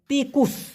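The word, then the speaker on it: tikus: Malaysian ভাষায় বলা হয় তিকুস টিকুস যদি কিনা আমরা আমাদের বাংলাদেশের ভাষায় যদি আমরা উচ্চারণ করতাম তাহলে হতো কি জানেন টিকুস আর ওদের হবে টিকুস কারণ টি অক্ষরটিকে ওরা উচ্চারণ করো ত এর মত এস কে উচ্চারণ করো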